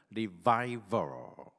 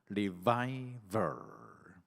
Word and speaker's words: revival: 부흥을 영어로 revival 이렇게 부르는데, 우리 발음에 유의하면서 V자 발음하려면 위에 이빨이 아래 입술에 닿아야죠. V, F랑 V는 닿아야 되죠. 따라서 하겠습니다. revival. 다시 한번 윗니빨이 살짝 아래 입술에 닿는 것을 유의하면서 revival.